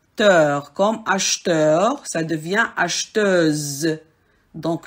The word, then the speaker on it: acheteuse: Vous avez par exemple des syllabes qui se terminent avec heure, teur, comme acheteur, ça devient acheteuse. Donc, le R se transforme en SE, ze, le son ze.